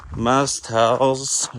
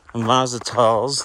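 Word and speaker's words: Mazatzal: I'm like more than halfway through the Mazatals or Mazatals, depending on which acceptable way you like to pronounce it.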